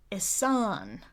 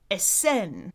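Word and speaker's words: Ehsan: And I'm glad that she wasn't shy about letting me know because she wanted the second vowel pronounced more like e. And for me, that's the e as in scent or fence. Esen, which I would probably spell with the letter E.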